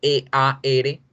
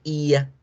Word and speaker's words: ear: pero hay veces dos vocales suenan a las dos vocales, como en la primera, oreja, E-A-R, no se pronuncia ear, se pronuncia ia, ia, ia.